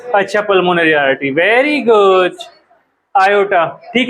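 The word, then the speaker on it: aorta: आयोटा। ठीक है? आयोटा नाम की आर्टरी होती है। स्पेलिंग ये होती है। इसको ओर्टा प्रोनाउंस नहीं करते। आयोटा ही प्रोनाउंस करते हैं।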